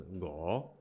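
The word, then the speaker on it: 吳: There's my deputy surname Wu becomes Ngo.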